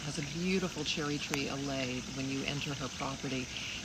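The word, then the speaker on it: allée: What's an allay? It's a like row. alley? Like an spelled I guess the same way? No, it's spelled A-L-L-E-E. Oh, okay. But it's basically French for an alley.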